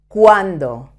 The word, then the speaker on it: cuando: C-U-Q, cuando, how many, or not how many, how much, okay?